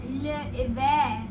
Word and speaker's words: l'hiver: We'll say winter as l'hiver.